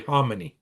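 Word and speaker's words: Khamenei: death of homonyy and that's the way I understand the correct pronunciation is I always say clmanian I hear that all the time but I've heard some Iranians say homonyy and you know I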